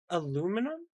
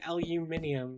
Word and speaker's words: aluminium: Aluminum? Well, I know that's not the correct pronunciation, but saying aluminium sounds weird.